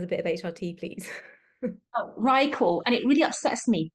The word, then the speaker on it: Ryeqo: RyeQol. And it really upsets me the way you spell it.